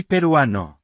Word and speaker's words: peruano: To say I am Peruvian, we say Soy peruano. if male and Soy peruana. if female. There are no accents, so the stress naturally falls on the second to last syllable.